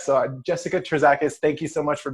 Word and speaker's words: Terzakis: Terzakis. Terzakis. Okay, cool. I know I would have personally done some kind of weird magic and it would have not sounded correct. So Jessica Terzakis, thank you so much for being on.